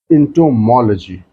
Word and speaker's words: entomology: So first is entomology. So whenever we pronounce this word, we need to put stress on MOL part.